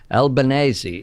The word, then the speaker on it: Albanese: is short for L Bernays E is the correct pronunciation of course you always say the vowels at the end of Italian words but I've said before